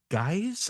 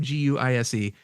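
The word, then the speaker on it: Guice: It's Superman #64, Dan Jurgens, and it is and Jackson Guise, I think is how you pronounce his name, Guise.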